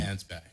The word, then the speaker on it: Mansbach: writing that I have read is author Adam mansbach did I say that properly say it properly for me mans back man's back I should have